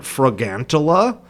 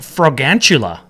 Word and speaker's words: Fragantula: I say it like fragantula, like a tarantula. Fragantula. But it's gigantic though. It's like gargantua, not tarantula.